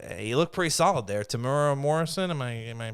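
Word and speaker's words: Temuera Morrison: Tamura Morrison. Am I am I pronouncing that correctly?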